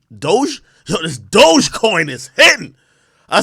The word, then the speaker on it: Dogecoin: how do you say it's not dodge coin it's doge this dogecoin is hitting